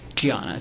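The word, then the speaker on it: Diana: Um Giana. It's spelled with a D, but she's Brazilian. Okay. So, he was married to a woman pronounced Giana, correct?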